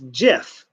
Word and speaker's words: GIF: have notes over here he wanted it pronounced jiff like the peanut butter but everyone said now